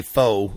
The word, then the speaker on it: faux: goes from wood well from maine we say foe but i think or fox but it's pronounced foe i guess faux wood oh oh